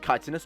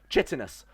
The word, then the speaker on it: chitinous: While walking along the path, I spotted a large chitinous chest and investigated it. Oh, sorry. That's clearly pronounced chitinous.